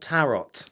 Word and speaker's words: tarot: cards tarot cards yes it's spelled tarot tarot like carrots but with a t yeah so it's tarot